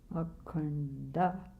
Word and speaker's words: Mukunda: Mukunda. Can you say that? Da. Put your tongue up there on your palate. Da. That's how to pronounce it.